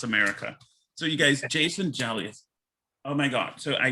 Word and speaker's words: Gelios: i pronouncing your last name correct did i pronounce it correctly julius yeah exactly you know bless america so you guys jason jelius oh my god so i met him on